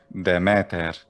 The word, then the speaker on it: Demeter: sonic or catholic goddess i might say demeter but someone in this century bce might say the matter the matter yeah and